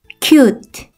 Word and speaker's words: cute: 알파벳 소리와 같은 U 발음이 났었죠. 한 번에 읽으면 cute.